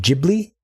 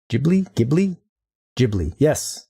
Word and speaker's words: Ghibli: It's pronounced like Ghibli. Ghibli. Yes. Studio Ghibli. Like the old giblets. You've been saying it wrong this whole time.